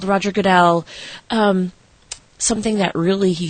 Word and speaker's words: Goodell: the NFL commissioner uh Roger Goodell yeah Roger Goodell I said it right yes okay um he